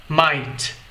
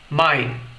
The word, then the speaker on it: might: como M escute novamente my ou seja É como se eu travasse como se eu limitasse a pronúncia dessa palavra antes da pronúncia da letra T escute novamente my o